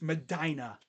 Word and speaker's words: Medina: It's Medina. Kind of grinds my gears when I hear people say mispronounce that city's name.